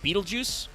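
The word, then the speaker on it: Betelgeuse: Uh they also uh do a lot of reference to uh Beetlejuice which if you don't know that is how you pronounce that star name. Betal juice.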